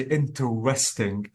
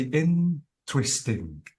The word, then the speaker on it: interesting: I mean you can't you don't have to say interesting you have to say interesting so notice that the stress is on in okay and uh uh